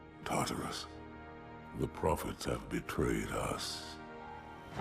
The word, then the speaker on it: Tartarus: I learned pretty quickly that Tartarus, or as I've been mispronouncing him for 90% of this voiceover, Tartar sauce has a shield that makes me completely useless against him.